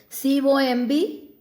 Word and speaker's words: comb: Like C-O-M-B, you say comb. Children, it's not comb. We should say comb. B is not pronounced there.